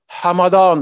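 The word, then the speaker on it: Hamadan: de Soissons mais de Hamada c'est la bonne prononciation une ville de de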